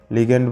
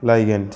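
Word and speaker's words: ligand: লিগ্যান্ড বা লাইগ্যান্ড, যেটা বলি উচ্চারণ, বুঝতে পারলি।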